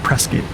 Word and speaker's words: Prescott: Like everybody calls it Prescott. Almost like biscuit, but with a P.